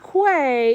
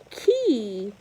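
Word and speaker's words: quay: not too dizzy and the last one is not clay it's actually key it's pronounced key okay so that was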